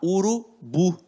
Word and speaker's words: urubu: Urubu. Então, esta última sílaba tem um som mais forte, por isso que é uma oxítona.